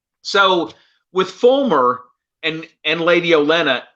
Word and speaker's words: Olenna: Olenna.